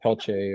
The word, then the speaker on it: Peltier: So Um It's interesting how the names are pronounced different cuz you you said Peltier like p e l t i e l. You know, cuz in you hear that in Louisiana too where they would call it Pelcher or you hear it differently pronounced just different ways of saying it, you know.